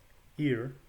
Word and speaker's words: hir: to do so notice the word h-i-r is is a collective second person pronoun to stan it's the equivalent of their in our language in our modern english their courageous in middle english is pronounced here h-i-r your courageous don long